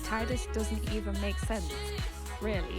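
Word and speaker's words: Tidus: Kingdom Hearts right and we always pronounced it like Titus but like in the in Kingdom Hearts it's like tits and it's not it's not tittis it's Titus I'm telling you we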